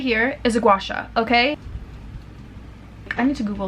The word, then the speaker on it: gua sha: Right here is a gua sha, okay? I need to Google like how does somebody pronounce it? Gua sha.